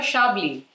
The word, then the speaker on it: Chablis: sure for chardonnay and sure for shabli so by now you know that the french like to pronounce their ch as sure rather than cheer chablis is a fairly large